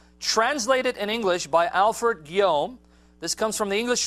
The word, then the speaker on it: Guillaume: It's a French, how do you pronounce the last? Guillaume, all right. French last name, man, I don't know. It's spelled Goleme, but he says Guillaume.